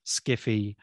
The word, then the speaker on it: skiffy: fiction sci-fi speculative fiction skiffy which is sci-fi pronounced literally you know and they